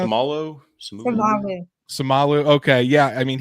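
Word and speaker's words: Seumalo: Is it Siamola? Is that how you pronounce? Samalu.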